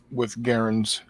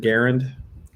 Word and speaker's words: Garand: gunners, 6 dudes with Garands, however you want to pronounce it. Yeah, I'm kind of torn. The family pronounces it Garand. Right. Soldiers at the time called it Garand.